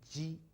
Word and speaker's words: ji: So ji, qi, xi, ji, I suppose you tend to pronounce it as something like G, like in your Jeep. But it's ji, The difference is that you try to have the tip of your tongue touching the back of your lower teeth.